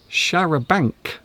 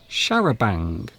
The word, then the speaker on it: charabanc: carry many people at the same time, a charabanc. And that's how you pronounce it. So it isn't charabanc. We actually pronounce this word charabanc.